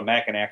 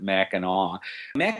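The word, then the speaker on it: Mackinac: people say oh I'm going to Michigan to MAAC Island it that's the way it's spelled I can't even begin to tell you why we pronounce it maau maau island is a pedestrian only Island you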